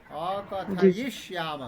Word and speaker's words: अकथयिष्याम: थोड़ा सा उच्चारण में और मेहनत की जरूरत है। अकथयिष्याम रुक रुक के बोलना है।